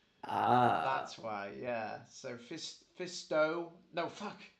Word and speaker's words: Fisto: I In a just always love when you pronounce Kid's name Kid Fistu. It's Fisto, isn't it? Yeah. yeah. I believe it's Fisto, but No, you know why I say you always say Fisto?